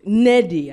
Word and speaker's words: Nnedi: having a name like Neddy you know and Neddy I know that's how you pronounce it fine but um but yeah so